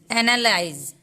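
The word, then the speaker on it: analyze: एनालाइज, एनालाइज में जेड तक का ही साउंड आएगा, ई का कोई साउंड नहीं आएगा, क्योंकि ई यहाँ पे साइलेंट है। एनालाइज, लास्ट में ई आएगा, कभी भी किसी भी वर्ड में लास्ट में ई आएगा उसका उच्चारण नहीं होता है।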